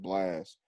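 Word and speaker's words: Blxst: b l x s t i think it's pronounced blast yeah y'all definitely got to check that out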